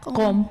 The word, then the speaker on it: Qom: Phát âm như thế nào nhỉ? Qom. Qom? Vâng, Qom.